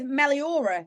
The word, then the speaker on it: Meliora: nice I like that so um we're with Melora have I said it right you have yeah